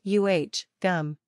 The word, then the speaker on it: agam: this word means I it is pronounced uh gum the first syllable uses a vowel sound that's a little like